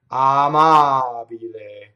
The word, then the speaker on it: amabile: We could say amabile. Double everything. I doubled everything. The M, the B, the L. Made 3 mistakes in one word. Did you hear that? So, to practice, do the purity test. Amabile.